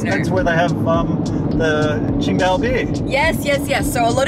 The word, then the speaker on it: Tsingtao: should be pronounced as Tsingtao, but it's actually pronounced Qingdao, exactly the same pronunciation as the city of Qingdao in Shandong province.